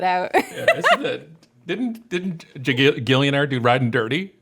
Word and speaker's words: Gigillionaire: And by the way, Gigillionaire is G-I-G, all capitalized. I pronounce it Gigillionaire.